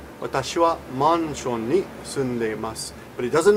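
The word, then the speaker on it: マンション: For example, the word mansion in Japanese would be pronounced manshon. Watashi wa manshon ni sundeimasu.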